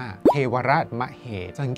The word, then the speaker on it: เทวราชมเหศวร: หน้า มเหศวร ก็ ได้ แท้ จริง แล้ว นะ ครับ ตาม ราชบัณฑิต ให้ อ่าน ว่า เทวราชมเหศวร เขต ว่า คำ ว่า ศ.